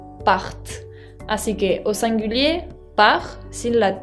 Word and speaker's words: pars: Je pars, con una S que es muda. Tu pars, también es una S que se le agrega y que no se pronuncia.